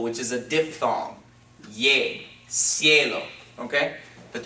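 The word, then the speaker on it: cielo: is a diphthong yay ciello okay but the reason that we pronounced the C with an S sound is because as an I coming after it okay but if we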